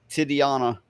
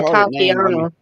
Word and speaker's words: Tatiana: Okay, this article is all about this Titiana, or how do you say it? Teddy. Let me see. This bitch, right? This Tatiana. This puto. Maslany. Oh fuck! Should I call her Titiana? Just say Tatiana.